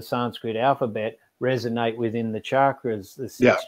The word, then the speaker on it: chakra: letters of the Sanskrit alphabet resonate within the chakras, the six chakras, and you can directly influence your own being